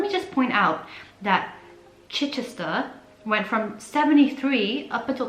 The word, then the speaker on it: Chichester: again um chichester okay i was definitely pronouncing that wrong it's chichester and 30 we've got